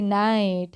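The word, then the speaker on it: night: NIGST, नाइट, have a good नाइट, है ना, बोलते हो ना आप, गुड नाइट, तो उसमें भी GH जो होता है वो साइलेंट होता है।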